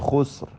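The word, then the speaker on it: خسر: ഇന്നൽ ഇൻസാന ലഫീ ഖുസ്ർ. ഖാ തഫ്ഖീമിൻ്റെ അക്ഷരമാണ്, ഇസ്തിഅലാഇൻ്റെ ഹർഫുകളിൽപ്പെട്ടതാണ്, പെരുപ്പിച്ചുച്ചരിക്കണം. സീനിനും റായിനും സുക്കൂൻ വരുന്നു. രണ്ട് സുക്കൂനും ഹറക്കത്ത് പോലെ ശബ്ദം ചലിപ്പിക്കാതെ ഉച്ചരിക്കേണ്ടതാണ്. റായിനും തഫ്ഖീം നൽകണമെന്നത് ശ്രദ്ധേയമാണ്. റാ പെരുപ്പിച്ച് ഉച്ചരിക്കണം.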